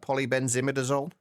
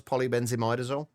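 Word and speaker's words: polybenzimidazole: But the the actual pronunciation of it as I believe it's uh polyenzimidazol which I just to me just doesn't roll off the tongue quite as well as polybenzimidazol.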